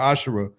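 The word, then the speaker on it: עשרה: numbers 18:21 Malachi 38-10 means 10 in Hebrew is pronounced by ashara 10% of every penny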